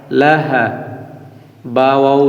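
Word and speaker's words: لَهَبٍ: হা লাহা লাম জবর লা হা জবর হা লাহা বা দুইজের বিউ লাহাবি লাহাবি লাহাবিউ ওয়া জবর ওয়া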